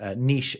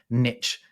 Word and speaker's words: niche: To me, it seems like in America, people are more likely to pronounce what I would say as niche and clique as niche and click.